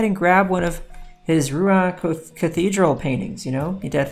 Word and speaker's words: Rouen: Go ahead and grab one of his Rouen Cathedral paintings, you know? You need to think about 30 of those, I don't know. R-O-U-E-N, Rouen, I believe is how you say it, Rouen.